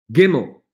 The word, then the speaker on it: gimel: down number three to g as in girl gimmel now if you look carefully